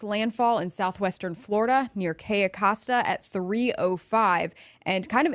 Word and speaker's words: Cayo Costa: Can we see exactly where can you pronounce it again for me? It's Cayo Costa.